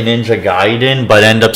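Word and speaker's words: Gaiden: getting the Y from there is no Y in it so how would it be ninja gayen sure it has an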